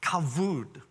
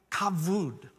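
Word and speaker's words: כבוד: word and it's pronounced kavood kavood it's actually spelt with a bee but it's pronounced with a v kavud and it literally means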